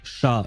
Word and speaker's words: chat: But we write we use the exact same word except we pronounce it sha in French.